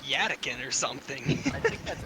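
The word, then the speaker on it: Yttakin: It's pronounced E-E-T-A-K-E-E-N, so it's Edakeen.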